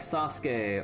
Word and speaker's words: Sasuke: names like these, like, they don't like straight up pronounce the su in ske, right? Like, they like, at least the way that, like, it's normally said, like, you know, it's just Ryusuke, or, you know, like, Sasuke, or, you know, stuff like that.